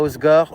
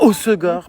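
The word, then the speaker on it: Hossegor: Osor pardon. Apparemment, on le prononce mal et les gens sont surx. On se calme. Il y a des choses plus graves quand même dans le monde. Même les gens qui vivent ici, ils disent quoi ? Ils disent comment tu prononces ? Osor. Voilà, c'est Osor. C'est pas Oscor.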